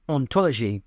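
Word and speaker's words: hantologie: the nature of existence in French the word for hology is ontology so the H exists in the spelling but not in the pronunciation it's both there and not there o for 40 years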